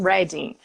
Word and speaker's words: Reading: Se escreve Reading como se a gente estivesse lendo, mas o pessoal aqui, quando está falando em relação à cidade, eles mudam a maneira como falam e falam Reading.